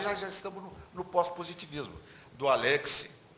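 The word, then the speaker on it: Alexy: Aliás, a pronúncia certa é Alexis, porque ele era alemão. A tendência nossa é falar Alexis, mas está errado. Alexis é uma pronúncia francesa, mas a pronúncia verdadeira é Alexis.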